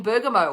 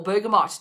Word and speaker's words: bergamot: internal use and then bergamo or bergamot depending on how you say it between three to